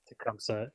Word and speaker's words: Tumsa: tournaments you've played and is it tumsa is that how you say it tumsa yeah uh is that your home